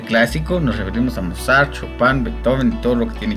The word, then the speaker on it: Chopin: Hablamos de Chopin, se escribe Chopin, pero se lee Chopin.